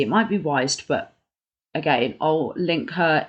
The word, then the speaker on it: Wiest: So it says, and it's by a lady called Brianna, I think you pronounce the name Brianna West, even though it's spelled Wiest. It might be Weist, but again, I'll link her Instagram.